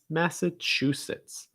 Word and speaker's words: Massachusetts: down ma sir massachusetts massachusetts massachusetts and you're going to stress the chew that's the syllable distress massachusetts after that we have